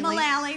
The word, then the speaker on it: Mullally: Is it Mullally? Mullally. Rhymes with Sally, yeah.